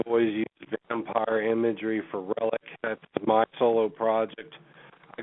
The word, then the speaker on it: RelliK: Um, not to the extent of someone like Kung Fu Vampire, but um, Relic Relic. It's Say My Name three times. Relic with a K. It's killer spelled backwards.